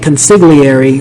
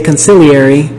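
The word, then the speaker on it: consigliere: like reading the novel I was pronouncing it conary but then in the movie they say consiliary so I realize that the the I now really realize that the g is silent at around 2 hours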